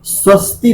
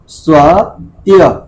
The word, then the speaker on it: स्वत्य: स्वस्ति तो वहां पर है ही नहीं, वहां पर तो एक शब्द है स्व और एक है त्य। स्वत्य भी, स्वत्य भी।